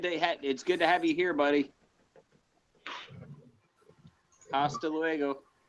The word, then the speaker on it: hasta luego: Hasta luego. You don't pronounce the H.